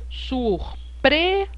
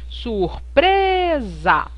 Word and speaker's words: surpresa: a sílaba mais forte surpresa então repare que aqui no pre eu pronuncio muito mais forte eu pronuncio com mais idade que o sur e que o za surpresa então se eu pronuncio